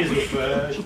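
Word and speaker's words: œsophage: Pascal, elle n'a pas le droit de parler au public, donc elle n'a pas regardé dans Wikipédia la prononciation du E dans l'eau. Comme œnologie. Énologie, ésophage, Edith, Martine aussi.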